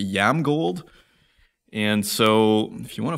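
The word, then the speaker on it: IAMGOLD: gonna ask him is how do you pronounce I am gold it should be yam gold and so if you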